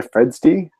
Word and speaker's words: Fredsti: Well, I've been Tom, your friendly neighborhood atheist, and it's been David Fitzgerald and Fredsti. Yeah. Fredsti. No, you got it. Hey. Don't feel bad. It's been mispronounced all my life, so I'm used to it.